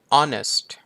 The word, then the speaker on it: honest: ครับ ผม ต่อ มา honest honest ตัว H ก็ ไม่ ได้ ออก เสียง เนาะ มัน อยู่ ข้าง